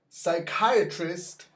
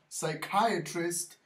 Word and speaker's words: psychiatrist: Once again, this one is silent. Psychiatrist. Psychiatrist.